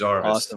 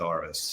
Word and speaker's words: Arvist: Today he's a principal consultant at, and I always say this wrong, Arvist. Did I say it right? You did. It is Arvist.